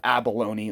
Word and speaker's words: abalone: I couldn't believe it there's no way it's called abalone that just sounds too silly sounds like baloney and I was wrong so now I say